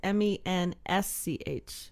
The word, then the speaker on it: Mensch: And it's Mensch. Correct. But the S is silent. Kind of, yeah.